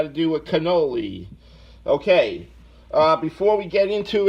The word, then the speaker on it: cannoli: Not gunnoli, but cannoli. Excuse me. That's the Italian in me. That's all we say. We say it like a gun, like Clemenza.